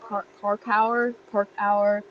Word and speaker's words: parkour: But it actually did us a really good service, because just the word, like, it's a French derived term. It's, how do you say it? Park hour.